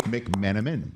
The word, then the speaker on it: McMenamin: How are Dave McMenamin?